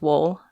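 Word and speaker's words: Wohl: 1956 Horton and wool I think it's pronounced wool w-o-h-l explored the different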